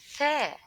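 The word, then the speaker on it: ث: Tha. Tha. The letter Tha looks like thank you. When you pronounce this letter, please put your tongue between your teeth.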